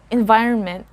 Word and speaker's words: environment: word is quite tricky environment again environment the solid letter here is the letter o after r you can also say